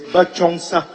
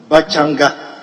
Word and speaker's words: Bachongsa: 7, question star 264, Roman numeral II is Bachongsa, not Bachanga. It should be BACHONGSA. Roman numeral III should be Yipala, not Tipala.